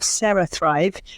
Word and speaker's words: CeraThrive: I'm the CEO and co-founder of CeraThrive, which is spelled CERA. I know it sounds like Sarah and Sarah, but it's kind of a play on, it's a neurotech product. So it's a play on kind of cerebellum or cerebral.